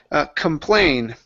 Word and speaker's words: complain: Next up is complain. Okay, with this word here, the stress is at the end of the word.